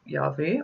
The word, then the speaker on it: Yahweh: Some Christians call him Jehovah, which is not the right way to say it, but it can be Yahweh or Yod Heh Vav Heh, okay? And the Jewish people don't like to pronounce it because the pronunciation is not Yahweh, it's something else.